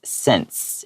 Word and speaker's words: scents: Yeah, we ignore that C, okay? So it's scents, and it means like smells.